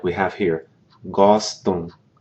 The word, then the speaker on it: gostam: Those verb forms that end in M, like we have here, gostam. You don't pronounce the M. What that does is it nasalizes the preceding vowel.